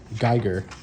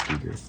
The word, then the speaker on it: Giger: Geiger. Oh yeah, Giger, sure. however you want to Geiger. pronounce I it. think it's Giger.